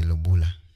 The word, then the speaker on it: lobola: Osei, how do you spell it? What? I think the lobola.